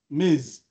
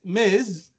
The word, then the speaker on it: Ms: about Ms M so m i SS you pronounce it with s m but Ms with Z Miz so Ms Miz is to address people whether or not they